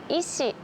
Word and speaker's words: 医師: 意がありますという風に使いますが意思というのは病院の先生ですね。